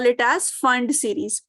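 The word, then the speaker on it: Pfund: And if it comes from anywhere but comes back to the fifth orbit, you call it as Fund series. P is silent, P Fund you write it, but you pronounce it as Fund series.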